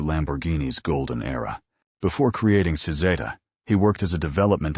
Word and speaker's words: Cizeta: The company name came from the Italian pronunciation of his initials, C and Z, Cizeta.